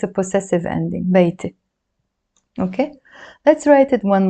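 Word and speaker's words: بيتي: So this one, we pronounce it beite. Beite. And it means my house, because the word beit means house, and this e or a in the end means my, makes it my.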